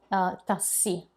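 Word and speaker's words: tassì: Old-timers, old folks in Italy will still call that taxi tassi, spelled T-A-S-S-I with an accent, just for you to know.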